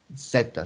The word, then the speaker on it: zeta: ángulo épsilon esa y éste el ángulo zeta ceta se pronuncia esa es esa letra griega esto es